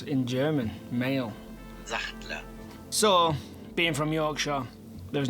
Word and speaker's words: Sachtler: Another important tripod manufacturer is Satchel. That's definitely pronounced wrong.